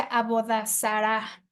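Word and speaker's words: עבודה זרה: Y bueno, la palabra idolatría en el Antiguo Testamento viene de una palabra hebrea que se pronuncia abodazara, ¿sí?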